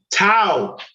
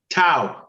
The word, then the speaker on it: tau: bumper this word right right here hold on tau y'all familiar with tau beta pi tau t-a-u is that am i saying that right